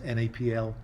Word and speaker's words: NAPL: apple, which was NAPL, if you pronounce NAPL out as a word, sounded quite inoffensive, and was therefore a selection based on that.